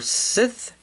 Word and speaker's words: scythe: and then we have his scythe or Sith as I've heard people pronounce it in my area and it does have